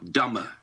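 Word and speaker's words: Dummer: to make the joke it's spelt d u m dumber we've had the jokes dumber that's right yeah look it up it's in hampshire there's no b in there right um quiet day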